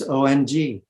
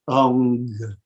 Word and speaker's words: Ong: And all the mantras that have Ong or as the variant of Om, it's O-N-G. Whether you spell it, regardless of how you spell it, the sound is Ong, Ong, Ik Ong Kar.